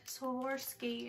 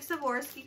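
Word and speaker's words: Swarovski: from swim or ski swim or ski is how you pronounce that whatever I see one crystal in here that's it you get one it svorski crystal what a sham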